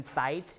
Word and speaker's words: sight: before t as in sight you don't you don't you don't uh pronounce the G and the H right you pronounce s and then the vowel and the T the G and the